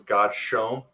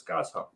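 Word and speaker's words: Godshome: hearing the audio now, I actually always thought it was God's Shome. Mm. And then The way it's spelled. It's just spelled out as one word. It is, yeah. So to hear someone reading it, I was like, oh snap, it's God's Home.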